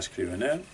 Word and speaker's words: Scrivener: Ya sé que existe el procesador Scrivener, como se pronuncia, a la española Scrivener.